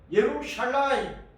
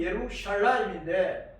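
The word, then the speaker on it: ירושלים: 예루살렘은 예루샬라임, 본 발음이 예루샬라임인데 뜻은 뭐냐?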